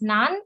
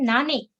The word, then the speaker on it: 何: kanji for what and it can be pronounced as nan and nani okay first let us